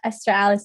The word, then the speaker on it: Estheralice: is esther alice most people would just call me esther but esther alice is how you pronounce my name i'm originally actually i'll